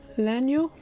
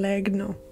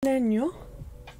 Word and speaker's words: Legno: name is simone leno leno rather than leg no i think the g is silent so someone eleno and